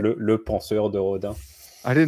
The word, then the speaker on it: penseur: Can you pronounce that one for me? Yes, penseur.